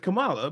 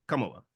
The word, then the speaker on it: Kamala: Kamala. What I'm saying is the emphasis on the first syllable, not the second.